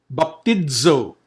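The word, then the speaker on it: βαπτίζω: Baptidzo. There you go again. The Z sound.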